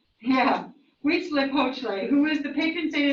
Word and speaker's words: Huitzilopochtli: The one that starts with an H is pronounced Huitzilopochtli. Yeah, Huitzilopochtli, who is the patron saint of the Aztec, and he was the sun god.